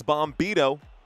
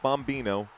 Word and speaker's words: Bombito: It's Bombito, but not Bombino or Bambino. Bombito. My bad. My mispronunciation earlier.